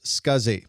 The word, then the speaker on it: SCSI: The abbreviation SCSI is pronounced SCSI, and this stands for Small Computer Systems Interface.